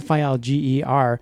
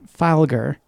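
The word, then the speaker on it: Filger: pronounce our names because my last name is ger fil ger and sometimes they say it file ger which is fine yokka Tommy who shisha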